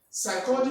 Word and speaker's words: psychology: Psychology begins with P, but you don't say P, psychology.